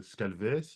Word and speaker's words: Scaleway: Toi, tu l'as prononcé Scalway, mais en tant que Français, je ne sais pas si on dit Scalway, si on dit Scalvay, enfin, c'est français, mais Scalway, ça me semble être la bonne prononciation.